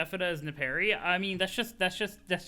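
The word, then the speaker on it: Nepeta: use to this version so i mean you pronounce it as nepari i mean that's just that's just that's just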